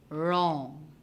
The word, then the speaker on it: wrong: letters in guide guide wrong the w is silent hones we have the